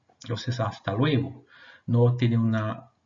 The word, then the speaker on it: hasta luego: comenzar mostrándoles la forma hasta luego en español hasta luego y la pronunciación importante tenemos esta letra que nosotros la decimos h no tiene pronunciación ella es una letra muda entonces hasta luego no tiene una pronunciación